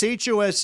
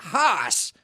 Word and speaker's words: Haas: Yeah, here in the States, HOSE is hose, nose. You want Haas. I'm going to need a H-double-A-S, like Haas avocado.